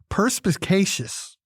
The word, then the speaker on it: perspicacious: The word of the day is perspicacious. Perspicacious. Perspicacious. 4 syllables.